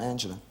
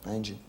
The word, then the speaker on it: Angela: angels and angela which is the typo um angela angie uh her real name is angel um yeah